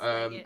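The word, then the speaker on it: Legate: How do you pronounce his bloody Leggett, name? yeah, it's Leggett.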